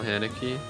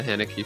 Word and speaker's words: Haneke: This was Rose's first time with the Haneke film. Yeah. I believe his name is pronounced Hanukkah, though.